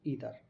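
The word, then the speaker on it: either: ईदर जो होता है उसे हम बोलते हैं एक्चुअल में अमेरिकन लैंग्वेज में हम प्रोनाउंस करते हैं ईदर, लेकिन ब्रिटिश लैंग्वेज में आइदर बोलते हैं।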